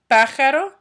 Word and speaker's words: pájaro: 23 dice bird, which is el pájaro. And then remember, pájaro has an accent over the first A.